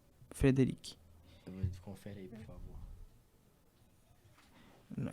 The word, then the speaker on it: Frédéric: Frédéric é F-R-E-D-E-R-I-C-K. C é mudo, entendeu? Frédéric.